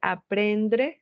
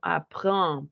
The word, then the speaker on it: apprendre: No vamos a decir aprendre, sino apprendre, prendre.